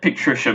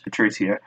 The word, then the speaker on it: Patricio: Mike, you just said Patricia, by the way. It's Patricio.